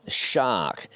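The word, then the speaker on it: Sharq: They are the Fulcrum Shark. That's spelled S-H-A-R-Q.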